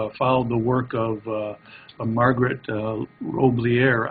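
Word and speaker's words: Roblyer: And I'm excited to be here because for some time now, I've followed the work of Margaret Roblier. I think that's not how she pronounces her name, R-O-B-L-Y-E-R, and William Wenke, I think is how you pronounce it, W-I-E-N-C-K-E.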